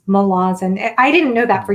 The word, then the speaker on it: Malazan: So is it pronounced Malazan or Mhm. Yeah, Malazan? yeah, yeah, it's Malazan. Okay. And I guess I used to call it Malazan, but apparently Erickson doesn't care. Like if you mispronounce it, it doesn't really matter that much.